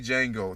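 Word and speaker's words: Django: porn like I like the movie Jango the D is silent I don't want hear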